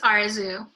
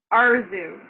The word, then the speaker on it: Arezoo: you say your name it's arizu arzu am i saying it okay yeah that's fine um i'm really i'm